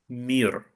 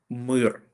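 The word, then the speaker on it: мир: drawing with the word mir or mir. Okay, mir is peace in Ukrainian. Mir, which is written absolutely the same, just Ukrainian and Russian pronunciations are different, is a peace in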